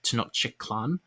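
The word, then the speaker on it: Tenochtitlan: texcoco their capital was tino shtitlin i've also heard it pronounced tenochiklan which i think is more closer to the nahuwato the language that the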